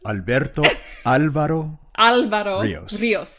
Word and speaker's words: Alberto Álvaro Ríos: We have with us Alberto Álvaro Ríos. Is that how you pronounce it? Did I do it good enough? Alberto Álvaro Ríos.